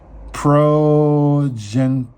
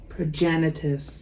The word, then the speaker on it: Progenitus: have pentus whoa did I say that wrong I said that horribly wrong proen progenitus progenitus as you heard my